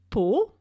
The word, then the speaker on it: Pau: On today's episode, Elise and I talk about the lovely city of Pau. That's spelled P-A-U, where you can see the famous Chateau of Henry IV, a most interesting and unusual French king.